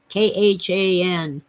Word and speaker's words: Khan: The Wrath of Khan k-h-a-n we don't pronounce the age is probably really something like Khan but Americans and Englishmen don't go around talking like that with the guttural sounds which happened to be